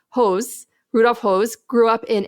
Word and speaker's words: Höss: Rudolf, his last name is pronounced Höss.